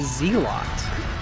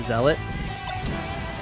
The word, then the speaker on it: zealot: of uh Starcraft and me and my friends all pronounced it z a lot and it wasn't until I was an adult that I realized it was pronounced to zealot yeah but uh yeah